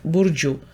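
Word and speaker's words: Burcu: Здається, я знайшла правильну вимову цього імені, саме як Burju.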